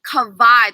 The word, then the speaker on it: Kawaii: Kawaii, that's the correct way to pronounce my first name. The W in Hawaiian is actually pronounced as a V in some cases.